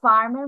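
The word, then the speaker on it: firm: এখানে আই এর উচ্চারণ কিন্তু ই হয় না, তিন কিন্তু হয়ে যাচ্ছে না, আই এর উচ্চারণ কিন্তু আ হয়ে যাচ্ছে।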